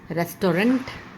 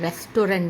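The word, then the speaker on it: restaurant: रेस्टोरेंट जाना है रेस्टोरेंट रेस्टोरेंट नहीं होता इटस रेस्टो रेस्टर कहां जाना है रेस्ट रेस्ट तो टी की पीछे की जो आवाज होती है वह साइलेंट होती है यह आवाज नहीं आती रेस्टोरेंट नहीं होता रेस्ट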